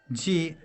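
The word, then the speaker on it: 系: Sometimes it is pronounced as ji.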